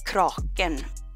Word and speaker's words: Kraken: I do the Kraken Kraken as we pronounce it in Scandinavia and the typical story